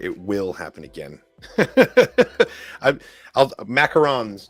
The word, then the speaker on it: macarons: I'll macarons, not macaroons.